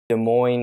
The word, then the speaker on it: Des Moines: states lincoln nebraska why do you know that des moines iowa that's interesting that you pronounced it right too desmond um i feel